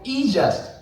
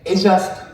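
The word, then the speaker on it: E-JUST: Okay, so we call EJust, but I understand why this kind of character you use. It's a little bit complex and difficult in Japanese pronunciation. But this is, we say, Ejust, not EJust.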